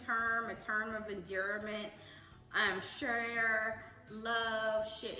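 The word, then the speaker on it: cher: Share, love, shit. It's C-H-E-R, but sometimes we pronounce it S-H-A. So that's Sha.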